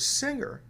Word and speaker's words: singer: Why do we pronounce the word finger with a hard G and the word singer with a soft G?